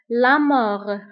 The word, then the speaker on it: mort: كنكتبها بالتف آخر الكلمة ولكن ما كنطقوهاش. La mort.